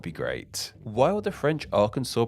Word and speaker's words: Arkansas: the other wanted to pronounce it in a more English way so it would sound somewhat similar to the nearby state of Kansas and be pronounced along the lines of Arkansas this debate actually led to the state legislators intervening and they made it law that the state's name should be pronounced in the way it is today Arkansas so in summary the